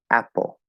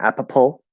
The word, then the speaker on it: apple: details but um yes when you see two p's in apple is one p okay and the first syllable is stressed so it's a pull apple apple that's it it's not apa pull or app pull a pull two syllables one p um so yes good